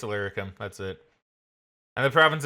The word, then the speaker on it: Illyricum: It's Illyricum.